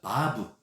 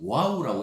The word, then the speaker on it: 바브: 그런데 여섯 번째 단어가 바브 혹은 와우라고 이렇게 하는데, 요즘은 최근 와갖고는 그냥 바브라고 이렇게 발음을 해요.